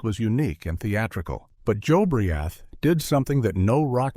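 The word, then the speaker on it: Jobriath: His name was Joe Briath, pronounced Joe Briath.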